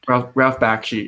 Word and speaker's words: Bakshi: How do you pronounce it? Ralph Bakshi.